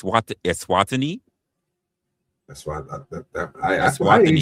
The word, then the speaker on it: Eswatini: If I'm looking at it, I'm trying to pronounce it. It's Eswatini.